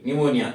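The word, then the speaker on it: pneumonia: silent रखना है पी ये निमोनिया की स्पेलिंग है तो पी एन स्पेलिंग भी ध्यान रखना पी एन ई यू एम ओ एन आई ए निमोनिया निमोनिया में देखो यहां पे पी साइलेंट है यहां पे साइ के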